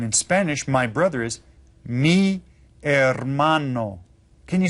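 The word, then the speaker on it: hermano: Spanish my brother is Meo can you say that Meo and you notice that the H is silent when we read that we just read it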